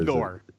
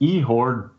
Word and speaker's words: Ihor: Where Igor. No, it's Ihor Duzanis.